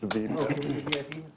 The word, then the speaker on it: VPIP: that's what it's pronounced. VPIP.